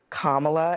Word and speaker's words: Kamala: Just think comma. Comma. It's okay. Your mnemonic is comma. I was like, right, never forget it again. It is burned into me. Only Republicans cannot hear Kamala and say it correctly.